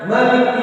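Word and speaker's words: مالك: Ada yang baca Maliki yaumiddin. Dan di sini di Maliki yaumiddin ada yang baca panjang, ada yang baca pendek. Kebetulan mazhab kita qiraat Asim itu bacanya dengan panjang.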